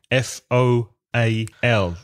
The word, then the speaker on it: foal: horse is a foal fol the vowel pronunciation is Oh vole a calf is